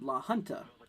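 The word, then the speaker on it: La Junta: uh let's see here magenta is pronounced at la hunter oh okay so la hunter uh well thank you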